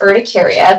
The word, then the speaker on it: urticaria: So the definition of urticaria is where we have, and it's urticaria, the correct pronunciation for that, we have pruritic erythematous papules or plaques with superficial swelling of the dermis.